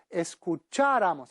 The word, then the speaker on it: escucháramos: Nosotros escucháramos, atención, nosotros en el imperfecto subjuntivo lleva un acento en la A de escucháramos.